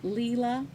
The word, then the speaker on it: Leela: It looks like Lila, but she said out of her mouth, it's Leela.